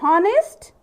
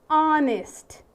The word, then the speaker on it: honest: Is it honest? No, it is honest. Yes, though there is ha at the beginning, while pronouncing the word, it is silent.